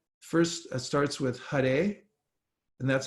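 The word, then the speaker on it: Hare: and 32 syllables and it's first starts with Hut a and that's how you pronounce that H a r e and it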